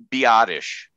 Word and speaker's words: Biadasz: way he said is don't be normal be oddish so be odd-ish that's right um i